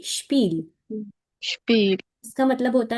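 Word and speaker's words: Spiel: for example जब एस और टी इकट्ठा आ रहा है किसी स्पेलिंग में किसी भी वर्ड में तो हम उसको बोलते हैं श जैसे द शपील शपील शपील या जैसे वो एक एच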